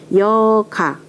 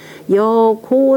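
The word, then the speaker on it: 如賈: 여가. 장사 고라고 읽어야 되죠. 참, 장사 고자. 여고 삼배를 군자 시식이라.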